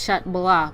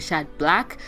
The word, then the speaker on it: Chat Blanc: be content and yes I'm pronouncing it as shat bola because so many of you go triggered when we call in a shot black I wasn't calling me